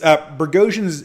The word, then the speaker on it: Boghosian: It's Bergosian is spelled like Boghosian.